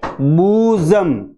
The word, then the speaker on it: bosom: इसका सही उच्चारण है बूजम बू में हम सबसे